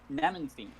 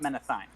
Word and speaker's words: Nemenstein: oh no he is his name was uh nemenstein not menethine uh oh men okay